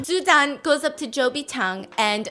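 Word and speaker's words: 周笔畅: Zhou Bichang and says, Chao Bichang. What? How do you say ugly? Chobi Chang. Yeah, she goes, so Cho Bi-chang, tell me about what your dream is. So Cho apparently in Mandarin means ugly.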